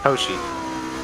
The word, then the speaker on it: Hoshi: Hoshi. Oh, Hoshi. Yeah, like a O, not Hoi.